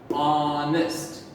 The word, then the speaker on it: honest: we sound the first letter that we hear honest okay when somebody's honest means they're telling the